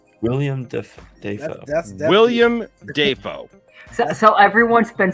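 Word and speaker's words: Dafoe: to him say his name eric schneider william defoe john schneider what what the hell william and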